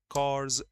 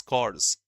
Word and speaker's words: corps: Cops, I think you remember NCC, National Cadet Corps. During school also we have NCC. In colleges also. The full form of last C is corps, pronounced corps, P silent.